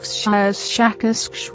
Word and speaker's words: Shakas: of your human letters, something like Shakas with a very strong pronunciation of the SH and K sounds.